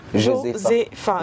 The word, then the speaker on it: Josepha: Josepha, je le prononce bien? C'est ça. Josepha. Joseph avec un A.